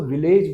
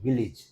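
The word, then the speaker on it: village: ई का साउंड आएगा अब कई लोग इसको विलेज बोलते हैं गांव को विलेज नहीं होता इट इज विलेज क्या होता है विलेज ओके अब ए का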